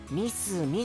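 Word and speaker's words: 三角: 三角って書いてミスミって読むんだよ。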